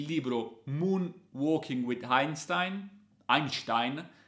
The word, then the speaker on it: Einstein: un working with einstein einstein perché diciamo se pronunciare la tedesca e non all'italiana che parla di memoria